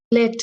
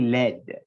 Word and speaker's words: led: It's actually led. That led people. So lead, L-E-A-D, led yeah. in the past.